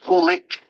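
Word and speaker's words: Coolidge: He went to federal prison and was pardoned by President Calvin, who I believe is pronounced Kulik.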